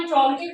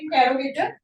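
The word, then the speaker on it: interrogative: आपां इंट्रोगेटिव example कर रहे हैं। इट्स नॉट इंटेरोगेटिव, the right pronunciation is इंट्रोगेटिव।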